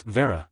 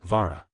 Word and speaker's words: Vera: Parvati, you're saying it wrong. It's Vera, not Vra.